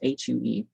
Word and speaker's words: HU: sang her hue divine it is pronounced as hue i have rewrote chapters